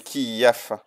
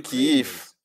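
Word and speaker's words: Kyiv: à Kief l'aéronautique et la version russe de cette ville est Kief c'est comme ça que les Russes étaient en train de le prononcer dans dans l'Union soviétique ils l'ont appelé kiaf mais avant l'union soviétique c'était appelé kiif c'est ainsi que les Ukrainiens le prononcent donc ça c'est le nom original et correct ce qui est le nom local keV quand je suis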